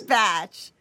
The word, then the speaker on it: Bach: the batch flower essays it is batch okay that is the um the preferred pronunciation um of Dr Bach batch himself I slip into saying Dr Bach all the time um